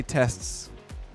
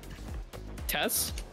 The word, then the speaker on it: tests: Okay, how do you say tests? Tess? You're just saying Tess. That's a woman's name. I don't understand what the problem is here. I'm saying the words. You're not saying tests.